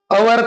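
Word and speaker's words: hour: question number five he came here after dash dash आवर same question है देखिए अवर आवर का जो एच है यह भी यहां पे साइलेंट है तो यहां पर भी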